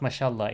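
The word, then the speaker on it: ما شاء الله: uh the best way to explain it so masha allah as i said it's better not to write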